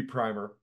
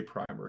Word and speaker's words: primer: I know I know I think it should be primer and I think we should continue to say primer because it I mean you prime something right if you're going to get it ready you don't Prim it well I'm not even